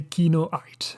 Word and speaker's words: Kinoite: does Kyo means so you have two options to pronounce the name kinoite the first one is the English way you say kinoite and it's as a reference to the Blue Mineral so I chose it